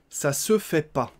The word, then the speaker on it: ça se fait pas: Ça se fait pas et on va le prononcer ça se fait pas. Donc on mange le E, on a mangé le ne de la négation également.